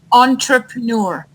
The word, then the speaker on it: entrepreneur: Well, how do I pronounce the word entrepreneur? Like, is it entrepreneur or entrepreneur or what is it like? Entrepreneur.